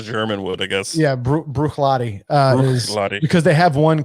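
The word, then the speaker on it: Bruichladdich: the distillery on there brewishlautish brooklynic brooklyn yeah actually yeah i think it's pronounced lottie at the end you don't pronounce the sh at the end it's brooklyn i was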